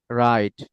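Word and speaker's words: write: তো এটা পড়বেন হচ্ছে রাইট, ডব্লিউটা বাদ দিয়ে দিবেন।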